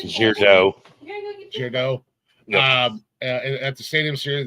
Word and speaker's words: Gaudreau: I don't know how you pronounce it. Gaudreau.